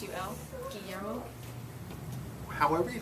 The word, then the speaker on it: Guillermo: I don't think you pronounce the L's. I think it's a Y. It's a 2L. Guillermo.